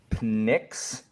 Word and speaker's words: Pnyx: So Samantha, here's how I pronounce them. So it's Pnyx for the platform.